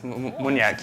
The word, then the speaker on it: Muniak: Is it Muniak? It's Muniak, yeah. I said it right? That's unlike me. Sounds like a Latin dance. It's easy, doesn't it's Polish. It's beautiful.